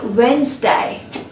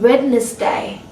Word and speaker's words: Wednesday: salt and not salt words like Wednesday and not redness day words like plumber and